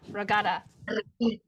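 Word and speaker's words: Reggada: pronounce it the regatta Regeda. Regeda. regeda. Regeda. There is a stress on the g, which is the G, Good. g. Geda. Regeda. Geda, geda, right?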